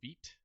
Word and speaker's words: Vite: a faster bundler so i like working with vitae or vt that's actually how it should be pronounced so what you do